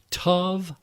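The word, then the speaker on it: תא: reversed in scripture as tav aleph pronounced ta and used only once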